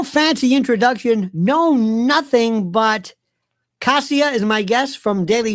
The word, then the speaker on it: Kasia: Um first of all, uh Kasia, not not not Kesha, like Asia. Look, Polish people would say Kasia, so you need to smile to say my name, Kasia.